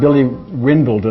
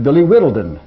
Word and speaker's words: Whittledon: That is not Billy Windledon or whatever you said. It's Billy Whittledon.